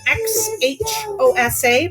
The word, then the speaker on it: Xhosa: the slide here since X H OS a F pronounced Xhosa and that type of language has a lot of clicks in the mouth and so let me